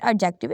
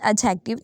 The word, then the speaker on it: adjective: It's not adjective, it's adjective. The D is a silent here.